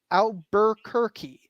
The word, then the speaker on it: Albuquerque: yeah yeah we say Albuquerque right like that first Burr that R is gone it disappeared in the early 19th century we don't know what